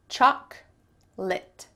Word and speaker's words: chocolate: This word has only 2 syllables. Chocolate. Chocolate. In the US, you will never hear someone say chocolate. That middle O is just cut out.